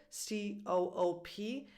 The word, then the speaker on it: co-op: And this can also be shortened in co-op. So if you see this word, C-O-O-P, in English is pronounced co-op. But again, it's like a compound word.